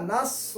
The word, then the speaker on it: نصر: اللہ کی مدد ہے، سواد کو سواد سے پڑھ رہے ہیں، سواد کا تلفظ کا ہے نصر، سواد، سو، اس کے بجائے اگر کوئی سین سے پڑھ رہا ہے، اس کو سین کا مخرج سا ہے، سا، باریک آواز نکل، سیٹی کی جیسی آواز آتی ہے، اس کی تلفظ کی